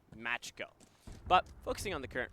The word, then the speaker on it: Makos: we both apologize because we are so used to seeing the same spelling but pronounced instead matcho.